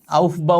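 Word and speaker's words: Aufbau: বিন্যাস্ত থাকবে ওটা কিছু নীতি আছে নাম কি আউফ বাহ নীতি আবার আউল ফাউল মনে করো না আউফ বাহনীতি এ অনেক উচ্চারণ করতে পারে না আউফ বাহ নীতি এর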